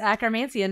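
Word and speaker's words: Akkermansia: obsessed with it is it how do you pronounce it acromancia is that right yes acromancia nice and pendulum and the whole thing so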